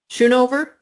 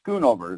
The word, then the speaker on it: Skunover: Shunover on the line. Yes, ma'am. A Skunover is how that's pronounced.